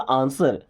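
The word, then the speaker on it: answer: Okay, आंसर मी, दोस्तों आंसर नहीं बोलते, फैशन के चक्कर में बोलते आंसर, नो, यहाँ पे डब्ल्यू साइलेंट है, क्या बोलना, आंसर।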